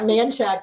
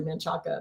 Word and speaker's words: Manchaca: Kind of like Manchac Road in Austin. It's really Manchaca, but they just call it Manchac.